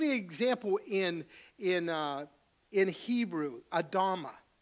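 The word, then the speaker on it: אדמה: I'll give you an example in Hebrew, Adama. Adama. Now, of course, that sounds kind of like who? Adam, right?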